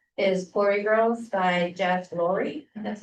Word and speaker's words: Lurie: Okay, the first book that I recommended is Glory Girls by Jeff Lurie.